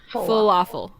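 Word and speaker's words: Fullaffle: spelled like normal Falafel it's spelled um like full yeah and then like waffle so f u l l a FF l e full waffle WAFF full waffle I'm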